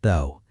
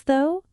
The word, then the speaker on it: though: It rhymes with go and no and so.